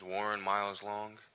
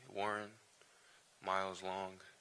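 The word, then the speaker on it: Warren Miles-Long: everybody my name is Warren miles long uh spelled out how it sounds phonetically Warren miles long otherwise known as Lauren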